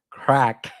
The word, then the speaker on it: Krak: So, Kraken's new app, Crack, sounds hilarious, but it's spelled different, people. It's K R A K.